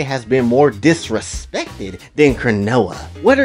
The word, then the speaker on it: Chronoa: Which how is your name Chronoa and it rhymes close to canola and your ass can't cook?